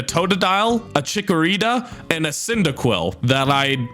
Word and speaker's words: Cyndaquil: choices between a totodile a chikorita and a cyndaquil that i'd pronounced synthedial for some reason i chose cyndaquil the fire